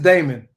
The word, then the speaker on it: Daemon: It's just Daemon. It's Daemon. I just need Daemon. to take the E out.